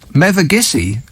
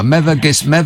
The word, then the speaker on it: Mevagissey: Mevagissey. Yeah. Alice, is that how you pronounce it?